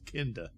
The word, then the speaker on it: Kinda: an exorcist type story kinda although pronounced kinder uh which plays on